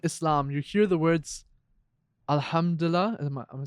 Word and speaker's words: Alhamdulillah: I think when you're in Dubai, other than Islam, you hear the words Alhamdulillah. Am I saying it right? Yeah. Alhamdulillah.